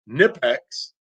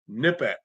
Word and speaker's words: Knipex: Your first thought is Nipex, but I saw a shirt not that long ago, or I saw a thing on Instagram from Knipex, and it was a shirt, and it said it's pronounced Knipex.